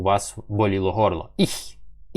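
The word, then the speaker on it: ich: Ну, потренуйтесь, тому що цей звук, він дуже популярний в німецькій мові. Є багато слів, е, іх, міх, дих, зих і так далі. І якщо ви його, е, не навчитесь вимовляти правильно, будете завжди помилятись. Тому рекомендую потренуватися на саме слові я.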